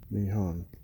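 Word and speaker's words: 日本: But this first character right here, that's pronounced ni, just like your knee, your kneecap. And the second character is pronounced hon, nihon.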